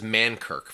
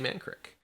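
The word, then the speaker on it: Mankrik: up is man crick which i've always pronounced as mankirk for years until i saw this and i was like wait it's man crick but it's actually actually man crick this is the the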